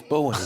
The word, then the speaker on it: Bowie: Well, you might like it, but his name was Bowie.